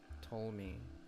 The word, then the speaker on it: Ptolemy: Ptolemy. I think the P is silent.